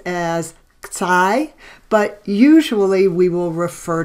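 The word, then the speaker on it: ξ: So this is pronounced as xi, but usually we will refer to it as squiggle.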